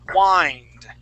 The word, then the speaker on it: wind: to it the verb the verb uses a long I sound okay and this is wind okay so here in